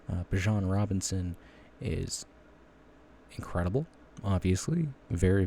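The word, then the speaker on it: Bijan: Bjan Robinson or Bjan Robinson, sorry, is how it's actually pronounced. Uh, Bjon Robinson is incredible, obviously.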